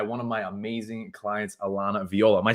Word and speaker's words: Alana Viola: I'm joined by one of my amazing clients Alana Viola am I saying your name right you're saying